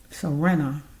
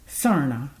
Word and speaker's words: Serna: So, with Miss Serna, I should be saying it right this time. No, that's wrong. Miss Serna.